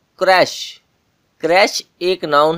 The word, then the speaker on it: crèche: आप सबसे पहले ये सोच रहे होंगे कि जो इसके स्पेलिंग है वो कुछ और है और इसकी जो प्रोनंसिएशन है, जो उसका उच्चारण है, वो कुछ और ही है। वो क्यों? दरअसल ये वर्ड एक फ्रेंच वर्ड है जो इंग्लिश लैंग्वेज में यूज होता है।